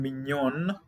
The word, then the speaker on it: mignon: Now, why are we saying mignon and we're having a GN here? So that's why the G followed by an N in French, it is pronounced as sound N.